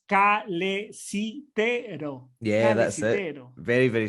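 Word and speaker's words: calesitero: Sí, lo bueno del español es que se pronuncia igual que se lee, entonces es calecitero.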